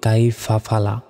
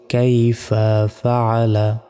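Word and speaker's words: كَيْفَ فَعَلَ: ফালা কাইফা ফালা আমরা অনেকে বলি কাইফা ফালা দেখুন দুইটা শব্দ কিন্তু আলাদা কাইফা একটা শব্দ ফাআলা একটা শব্দ বলতে হবে কাইফা ফাআলা এভাবে তারপর র বা জবর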